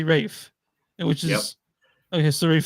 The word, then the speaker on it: Ralph: yeah yeah I found in England they don't say Ralph they say Rafe which is okay so